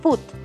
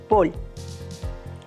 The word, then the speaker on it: fútbol: recordar en general que la primera con el énfasis en la primera sílaba foot es más usada por argentinos y españoles en cambio en méxico se utiliza la que lleva el énfasis en la última sílaba paul pueden identificar la nacionalidad